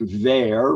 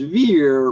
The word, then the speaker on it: Vere: I believe that it is variously pronounced in 16th century England in varying ways, including the Francophonic Vere, rhyming with fair, bear, wear, or Vere, spring, to the anglicized Vere, rhyming with beer or fear.